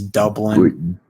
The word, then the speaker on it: Dublin: said it wrong though he said like Dublin like it's Dublin not duin like oh my gosh oh